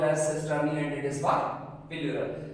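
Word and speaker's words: cisternae: They are called sister for singular cisterna, and after E they are pronounced as cisterni, and it is for plural.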